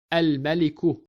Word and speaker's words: الملك: Here we are pronouncing lam because the first letter mim of the ism Malik is qamariya letter. And as with all words starting with qamariya letters, we have to pronounce the letter lam.